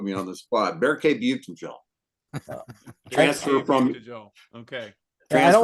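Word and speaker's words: Büyüktuncel: It's Buchtenjel. Berke Buchtenjel. Our new guy, yeah. You were going to ask how to pronounce his name.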